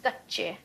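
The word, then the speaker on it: कच्चे: You can't keep your onions kache. Can you say that? Kache. That means raw.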